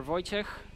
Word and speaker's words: Wojciech: My name is Wojtek, or Wojciech, depends what version is easier to pronounce for you.